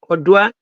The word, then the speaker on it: Oduah: Odoa.